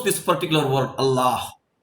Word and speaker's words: Allah: this particular word Allah Al is from the throat it is like a w when you pronounce this La the tongue is touching the teeth and when you pronounce the last a that is breath coming out of the mouth through the lips now what does it